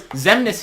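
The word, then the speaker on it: Xemnas: His name is the Zemnis.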